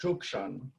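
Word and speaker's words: Cuk Ṣon: tucson which actually was our traditional village and pronounced zhukshan um those were that's all ancestral land right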